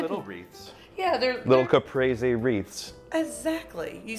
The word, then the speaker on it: caprese: Yeah, they're little caprese wreaths.